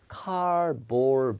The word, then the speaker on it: cardboard: 카드보드가 아니라 cardboard box 이렇게 발음합니다.